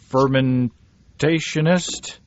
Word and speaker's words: Fermentationist: you are the Mad Fermentationist. Good enough. I made the word up, so it really doesn't matter how it's pronounced. No, say it. We need to get it right. I believe it's fermentationist.